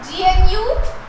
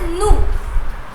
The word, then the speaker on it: gnu: We read this GNU. We do not read it as gnu. G is silent there. Okay. So we will read it as nu.